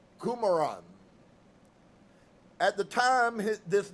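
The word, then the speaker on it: Qumran: hesitation he finally said it is called Kuman which he pronounced as kumaran at the time this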